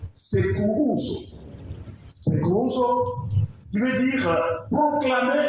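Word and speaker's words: κηρύσσω: Un autre mot qui se prononce sekourouzo.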